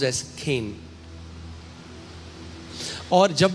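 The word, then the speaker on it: חן: है केन सी एच ई एन बट it's pronounce S केन और जब मैं इस पर मनन कर रहा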